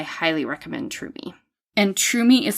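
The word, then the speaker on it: Tromi: cell phone I highly recommend Trum me and trumi is spelled t r o m i cuz that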